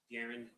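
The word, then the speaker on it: Daryn: And if you please state your full name and then spell it for the record. Garren.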